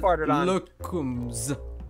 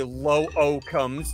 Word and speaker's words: Lookumz: Do you pronounce both O's in your name, or do you say Lookumz, or do you say Lookum? Ah, case in point. No, I said Lookumz. Exactly, because you don't pronounce both O's. You don't say low O comes, do you?